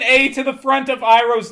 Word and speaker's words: Iroh: But you could just change the spelling instead of making Iroh be Eero. Sokka being Soka, Aang being Aang. Add an A to the front of Iroh's name when it's written down.